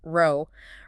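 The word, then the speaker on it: rho: let's start with resistivity denoted by the Greek letter row pronounced row resistivity is essentially a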